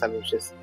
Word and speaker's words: aluxe: y respetamos de los aluches. El el ¿Cuál es la pronunciación correcta de la palabra aluche? Es aluche. Es no es che, es al es como pronunciar s h she.